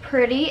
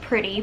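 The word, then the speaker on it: Prreti: it should just be I think pronounced pretty but if prr ETI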